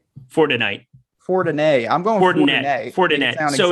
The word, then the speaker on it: Fortinet: tonight for tonight for tonight i'm going coordinated fortinet so it's a it's the leonard fortinet championship